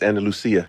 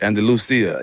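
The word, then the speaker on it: Andalucía: Andalusia. Are you from Spain? It's Andal Lucia. Andalucia. Yeah.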